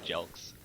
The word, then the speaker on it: Jelks: Jelks is the way it's pronounced, I am now aware.